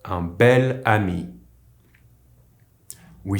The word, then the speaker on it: bel: Ami here is masculine but because it starts with a vowel, with these specific adjectives we use the pronunciation of the feminine adjective while writing it as a masculine with a single L.